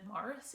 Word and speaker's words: Maurice: Forster, which I think they pronounce it Morris in some countries, but I say Maurice.